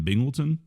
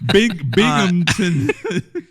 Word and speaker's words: Binghamton: Like in New York, was Stevie Ray Vaughan like this huge fucking thing in Binghamton? Binghamton, yeah. I grew up. Yeah, dude. I can't just let you pronounce it like that.